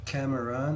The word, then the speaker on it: CXMERXN: Ça s'appelle Cameron, mais ça s'écrit CXMERXN.